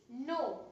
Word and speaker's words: know: बट कुछ words होते हैं जैसे कि नो, अब इसमें क्या है, के है वो साइलेंट है, तो इसकी स्पेलिंग आप अल्फाबेट के साउंड से नहीं बना पाएंगे, है ना।